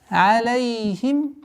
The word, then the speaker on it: عليهم: Алейхим. Нужно обратить внимание, чтобы фатха, огласовка, произносилась алей, а не алей. Алейхим, нет, алейхим.